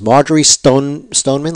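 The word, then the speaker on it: Marjory Stoneman Douglas: Everyone pronounces it as Marjorie Stoneman, like a guy who's stoned. Stoneman.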